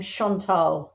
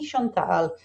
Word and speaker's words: Chantal: here with you today I pronounce my name Shantal my my mom was not French but named me after a little French girl called Mari Shantal so I like to say it's Shantal and I'm used to